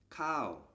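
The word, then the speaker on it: ข้าว: a high class consonant combined with this tone marker produces the falling tone so this word is pronounced cow we learned in the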